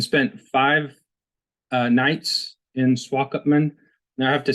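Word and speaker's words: Swakopmund: five uh nights in swalk upman now I have to say it took me about four days to be able to pronounce that it's a German word uh at one point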